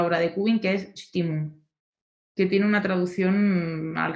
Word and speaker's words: Stimmung: Entonces, ¿Puedes pronunciarla? Stimum. No, Stimmung, ya que no hay traducción, a lo mejor podemos sentirla, sí.